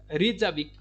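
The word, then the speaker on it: Reykjavík: REYKJAVIK, रेजाविक, क्योंकि के को हम साइलेंट कर देते हैं।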